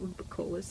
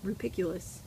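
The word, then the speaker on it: rupicola: I'm also not super loving the clay beads that I put the, oh, I learned that it's not rupicolous, I've been saying it wrong, it's rupiculus, Lalias.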